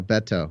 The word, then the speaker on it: Beto: wrong I don't remember I'm surprised oh I'm pronouncing it like my Spanish - class taught me to you know Beto so that's oh there you go a lot